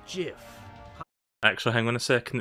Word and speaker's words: GIF: like a gif it's not the truth it's pronounced jiff actually hang on a second it's not showing